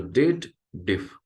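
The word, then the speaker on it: DATEDIF: People does a wrong pronunciation. They believe there is a if statement or a clause or logical formula is added and they should read it as dated if.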